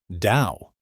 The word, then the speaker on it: Tao: For one thing, why is the word spelled t ao when it's pronounced dao?